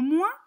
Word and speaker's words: moins: regardons comment il s'écrit il faut faire attention à une petite chose le s final est muet c'est le mot - le mot mois sert à exprimer le